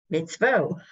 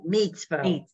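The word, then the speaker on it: מצווה: Mitzvah. Mitzvah. Good. And then go on the other side. Mitzvah. Meats. It's really meats. Oh, it's meat. Mitzvah.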